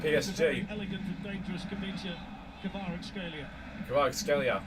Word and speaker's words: Kvaratskhelia: Kvaratskhelia, that's how you say it.